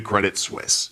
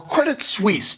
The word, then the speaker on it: Credit Suisse: to introduce you to credit Swiss or Credit Suisse depending on how you want to pronounce it they're one of the